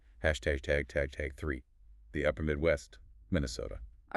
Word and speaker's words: Minnesota: When you say the state name itself, it's often pronounced Minnesota OT with a very long monofongal O.